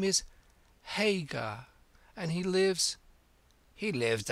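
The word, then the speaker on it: Haigha: name's his name is Hagar he pronounced it so as to rhyme with Mayor I love my love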